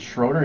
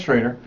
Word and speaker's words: Schrader: Is Schrader? Have I been saying it wrong? Is it Schroeder? He goes, no, it's Schrader.